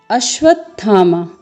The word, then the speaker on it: अश्वत्थामा: आप लोग ध्यान रखेंगे है तो तो फिर अश्वत्थामा यहां पर अश्वत्थामा दो एक अर्ध वर्ण तालाब